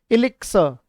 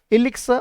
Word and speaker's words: elixir: Next word, elixir. There are two pronunciations of this word, elixir or elixir.